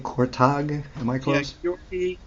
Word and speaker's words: Kurtág: Gyorgy, catch me about pronunciation. Gyorgy Kurtág. Am I close? Yeah, Gyorgy Kurtág. Kurtág.